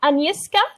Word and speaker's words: Agnieszka: So we have a new student here, Agnieszka. Do I Oui.